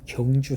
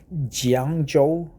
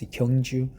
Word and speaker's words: Gyeongju: 4th, and we had an APEC summit in Gyeongju City. Some pronounce it Jiangzhou, but it's Gyeongju, Gyeongju City, north of Busan City.